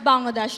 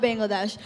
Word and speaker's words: Bangladesh: It's actually pronounced Bangladesh, not Bangladesh.